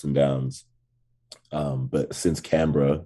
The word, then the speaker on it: Canberra: and the the bigger cities in australia so canberra c-a-n-b-e-double-a-r it's like canberra says um it's a three-hour drive from sydney